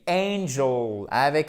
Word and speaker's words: angel: Angel, avec un accent tonique ici. Vous voyez la différence entre Angèle et angel? Ce sont deux mots totalement différents.